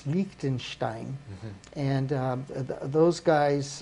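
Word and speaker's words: Liechtenstein: only uh Switzerland but lonstein only you got to say it right it's lonstein and um those guys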